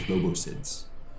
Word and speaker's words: Lobositz: Near the village of Lobositz, in the valley of the river Lobositz, I did pronounce it right.